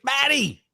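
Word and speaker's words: Baty: Shay also said, also, TJ, while you're learning more about the Mets prospect, learn how to pronounce Batty's name correctly. It's Batty!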